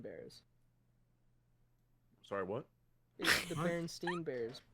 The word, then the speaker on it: Berenstain: baron stain bears or berenstein bears sorry what the berenstain bears is it berenstein or berenstain i've always heard it been pronounced berenstein please shut up anyways